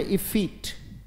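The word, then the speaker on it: effete: इज, बोलेंगे मेरे साथ, पहले उच्चारण क्लियर करें, बोले इफीट, शाबाश, बोले वेरी गुड, बोले इफीट, उच्चारण चाहे हिंदी में लिख लीजिए बेटा, कोई दिक्कत नहीं, उच्चारण है इफीट।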